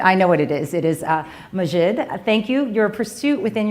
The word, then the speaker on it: Maajid: differently because you told me how it was pronounced and I'm now forgetting. I think your pursuit, I know what it is Maajid.